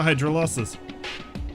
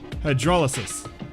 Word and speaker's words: hydrolysis: it is susceptible to hydro losses hydrolysis that's how you pronounce that so it is possible